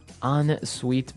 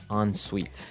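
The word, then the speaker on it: en suite: s UI t e so even though it's e n we pronounce it like an o n yep on Suite so an on Suite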